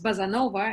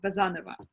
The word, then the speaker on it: Bazanova: Foreigners pronounce my surname as Bazanova, and they like it better, like Casanova. And how do you say it? The second syllable is stressed, Bazanova.